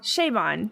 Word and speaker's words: Chabon: of goes into uh is his name pronounced siobhan chat uh michael michael chabon shayvon yes thank you because as we record